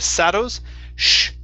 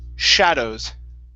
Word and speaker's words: shadows: the word shadows okay sh here instead of saddles shadows shadows okay very good